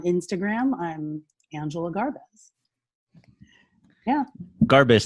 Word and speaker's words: Garbez: Garbez, not Garbes. Not Garbes. Never Garbes. Always two syllables. You can say Garbez, Garbez, but never Garbes.